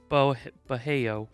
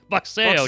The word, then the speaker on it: boxeo: Bajeo. Sí. Boxeo, damn it. Oh, dude, you're close. I was close. I couldn't remember how to pronounce the X.